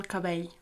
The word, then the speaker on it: cabell: Again, it's got that weird double L sound at the end. El cabell.